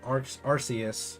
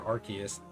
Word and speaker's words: Arceus: before there was events for Shaymin Darkrai and Arceus or Arceus depending on how you pronounce it um that have obviously since expired